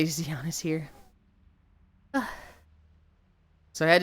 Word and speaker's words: Xion: Because Shion's actually Xion. But no one that didn't play Kingdom Hearts would pronounce it as Shion.